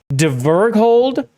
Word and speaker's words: Dverghold: Short E. Like the E in bed, hard G. Okay. Dverghold, God, is in the Norwegian Old Norse word dwarf.